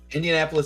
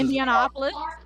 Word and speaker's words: Indianapolis: Indianapolis is Indianapolis.